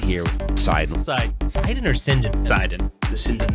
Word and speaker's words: Sidon: Let's How do talk you- about Sidon, guys. I always say it wrong. Is it Sidon or Sinden? Sidon. The Sidon light gun. Today we've got Andy with us.